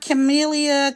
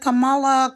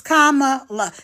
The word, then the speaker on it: Kamala: am voting for kamaa it's not chamelia Kamala CA it's not it's kamaa it's really not that hard so I don't know why people have a problem pronouncing her name I could see if it was you know something super duper long but it's only literally what is it two syllables comma well k M okay three syllables you got me that's